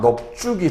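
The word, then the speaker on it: 넓죽: 그래서 이 경우에도 넙이 되고 안올림 예사소리 지읒이 왔으니까 넙죽이 되겠죠.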